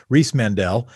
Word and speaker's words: Riismandel: One of the nice things about podcasts is I can understand how I think to pronounce Riismandel. Nailed it.